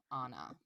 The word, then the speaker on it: Anna: Anna, I think is how she pronounces it with an ah, Anna.